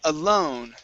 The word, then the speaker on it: alone: Uh let's go to the word alone Instead of alone okay it's an o sound Alone Alone Good Good